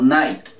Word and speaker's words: night: inglés es a internismo night nos saltamos la g y la h ok test para decir